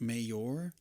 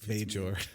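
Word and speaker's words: Mayjore: pronounced i was like is it mayor that's really funny major major okay please continue spelled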